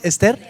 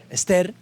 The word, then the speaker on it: Ester: Josué hasta Ester Ester quiero que sepan que la Biblia ahí no tiene acento entonces mentira Cómo se dice Ester Ester Esos son los libros